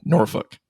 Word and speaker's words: Norfolk: Ryan taught me how to say this correctly Norfolk well done well done um yeah from an